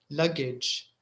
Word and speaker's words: luggage: about the ending gage it's written a g e but you pronounce it itch message luggage language village sausage manage